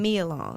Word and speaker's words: Mia Long: my name rhymes with Nia Long. You know what my name is? I know who Nia Long is. Okay. I'm Mia Long.